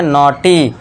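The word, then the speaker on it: naughty: ए यू ऊपर चंद्रबिंदु और इसके बाद जी एच साइलेंट है। इसके बाद टी का ट लिख दिया। इसके बाद वाई के लिए बड़ी ई की मात्रा। तो ये क्या हो गया? नॉटी कॉट नॉट।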